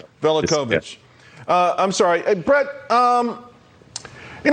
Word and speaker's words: Velicovich: I don't want to mispronounce Velicovich. it. Velicovich.